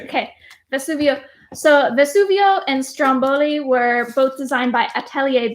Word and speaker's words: Stromboli: And Paul will rate me on my pronunciation as he is 100% Italian descent. Ready for this? Stromboli. Stromboli. How do you? That's the way you say it. So that's the way you say it. Stromboli.